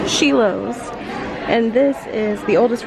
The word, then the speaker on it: Schilo's: like to see okay sheilo pronounced sheos and this is the